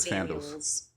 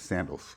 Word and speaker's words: Samuels: And name is spelled the Samuels. You said Sam Samuels. Samuels. Okay. I thought it was sandals. Okay. No, not sandals.